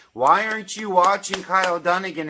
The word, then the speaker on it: Dunnigan: to even say Kyle Dunnigan okay but you say it because that's his name that's how you do things you say his name you don't say Dugan It's not Dugan I don't know what